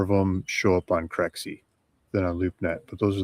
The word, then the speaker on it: Crexi: This is Crexi. It's spelled CREXI.